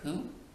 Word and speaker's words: Pu: Poo, by the way, is pronounced sort of like poo, but without so much oo, like the sound you